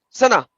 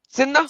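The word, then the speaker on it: سنة: Usama, how do you say year in Arabic? Sinna? Sana. No, sana.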